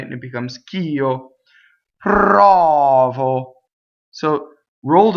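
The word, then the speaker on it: provo: Anyway, prɔvo, so getting to the unaccented syllable. This unaccented syllable is closed, right?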